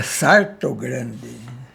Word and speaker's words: Salto Grande: Eu nasci em Salto Grande, a pronúncia correta é Sarto Grande, lá no Cafundó, perto do rio Paranapanema, né?